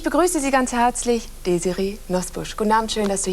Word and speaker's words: Nosbusch: die Amerikaner einfach mit Nosbusch nicht zurechtkamen. Wie haben die das denn ausgesprochen? Ja, also so richtig, es klang dann teilweise Nutbush, Nussbush, Nutbush.